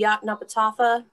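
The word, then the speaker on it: Yoknapatawpha: She co-founded Ox Film, the Yaknapatawpha Arts Council's program to lend equipment to the Oxford filmmakers. Tried to get that pronunciation.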